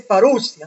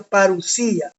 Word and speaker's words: parusía: el término griego parusía la gente dice parusia no es parusía así se pronuncia parusía y la parusía puede